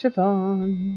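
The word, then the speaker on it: Siobhan: here's the pirate C cobon is pronounced sioban what a menacing name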